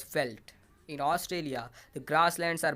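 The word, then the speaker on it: veld: came to settle here it means field and is pronounced as felt in australia the grasslands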